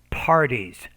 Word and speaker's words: parties: parties not parties but you need to pronounce that p with more air pa parties parties but however in